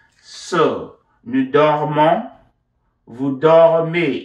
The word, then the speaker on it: dormez: So, nous dormons, vous dormez. Ez is always pronounced a.